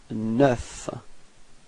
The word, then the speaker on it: neuf: And last but not least, you get neuf. Repeat. Neuf. Okay, so you pronounce the final F. Okay, and then E plus U gives you this E.